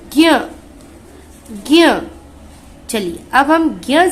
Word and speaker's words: ज्ञ: ये ज्ञ में हमें य भी नहीं दिख रहा है, ज भी नहीं दिख रहा है, लेकिन सिर्फ इनका उच्चारण हो रहा है, इनकी ध्वनि सुनाई दे रही है।